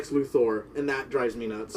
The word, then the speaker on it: Luthor: villain I hate Lex Luther oh sorry nope we're all saying it wrong Le luor and that drives me